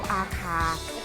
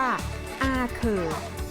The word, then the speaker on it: อาข่า: ตั้ง ของ หมู่ บ้าน ชาว อาคา หรือ ที่ นี่ เขา ออก เสียง ว่า อาเคอ ซึ่ง ที่ นี่ ก็